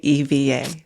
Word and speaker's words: EVA: So, Mitch, you've taught us before, in order to know the correct pronunciation of an airline, you look and hear the flight safety video. They will say it correctly on that, right? I flew EVA in economy during our winter trip, and I paid attention to the flight safety video, and they did say EVA.